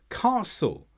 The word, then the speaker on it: castle: Words such as listen, hasten, castle, all have a silent T because they come after the S.